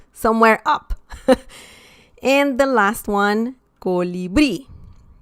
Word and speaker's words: colibrí: Essentially, this is the last syllable. Sorry about that. And I believe this too, this is the last syllable, subió. Colibrí. Okay? So we have an accent mark because colibrí ends in I.